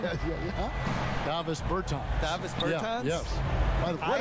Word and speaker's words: Davis Bertans: Oh, well, now, at this point in my life, it's DeVos Bertans. Is that how you say his name? Yeah. Davis Bertans.